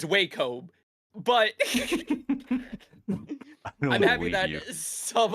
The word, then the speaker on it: Wacom: Wacom.